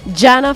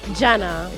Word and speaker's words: Jana: Like, no, if you would say Jake, then Jana. Because I thought it was more like Hannah. So in Catalonia, in my region, it's Jana, because we speak Catalan.